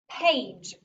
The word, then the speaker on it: page: As you can see, it still has magic E that shoots the sparks over to make that a long A sound. And then we have the GE together saying J, page.